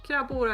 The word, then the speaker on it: krabbor: Krabbor, actually. There's more of them. It's krabbor instead of krabba.